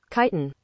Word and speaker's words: Chitin: Chitin? Shit, I don't know. I don't know how to say this word. Does anyone know how to say this word? Chitin.